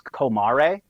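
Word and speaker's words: comare: And it's apparently in Italian it's kumare.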